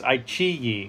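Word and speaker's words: iQIYI: And actually a couple people corrected me. It's IQYI, I think. IQYI. I'm always pronouncing it wrong.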